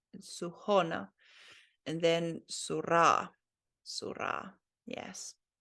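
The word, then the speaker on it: Сухона: Okay, the emphasis on the O, Suhona.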